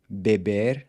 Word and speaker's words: bebe: But then it changes to an open E in the next two forms, bebe, Ele fuma, ele bebe.